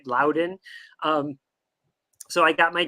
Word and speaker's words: Loudoun: Mandy you nailed it that's exactly how you say it loud in um so I got